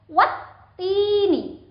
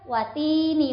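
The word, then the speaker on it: والتين: Al di awal huruf sebelum ta itu tidak dibaca. Sehingga huruf wawu itu langsung dihubungkan ke huruf ta-nya dan dengan ditekan. Wattini, bukan watini wazaitun, itu salah.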